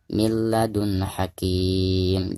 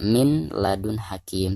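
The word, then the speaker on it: من لدن حكيم: Jadi cara membacanya milladun hakim. Jadi bukan dibaca min ya. Jadi bukan dizahirkan, bukan dibaca min ladun hakim, tetapi milladun hakim langsung diidghamkan ke huruf lam ya.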